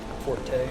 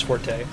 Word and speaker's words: forte: Gratuitous acts of senseless violence is my forte. I need to just accept the fact. So I guess technically that word is supposed to be pronounced fort. Technically. But nobody does that. Everybody says forte.